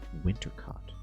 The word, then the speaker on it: Wintercott: But the way she said it, it rhymes with hot, like winter. Winter cot.